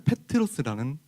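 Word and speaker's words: Πέτρος: 한국말로 베드로라고 읽고 원어식으로 읽으면 페트로스라는 단어입니다.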